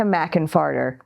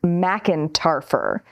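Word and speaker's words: McEntarfer: Messenger there, Erica McInfarter. I am being told it's pronounced McIntarfer. But dear leader likes McInfarter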